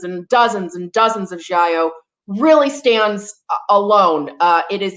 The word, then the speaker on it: giallo: And again, it's giallo. Giallo. I'm not going to say what I was saying, but I promise you I've been mispronouncing that my entire life.